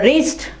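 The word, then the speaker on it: wrist: और रिस्ट, क्लाई को कहते हो रिस्ट, W के बाद R है तो W क्या हो जाएगा, साइलेंट हो जाएगा।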